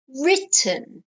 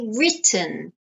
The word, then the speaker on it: written: i e okay because it's not writing it's written okay written so we need a Double T to change the pronunciation of that eye okay next sentence I